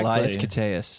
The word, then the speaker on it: Koteas: Koteas, how do you say his fucking name? I fucking You said it correctly. Elias Koteas.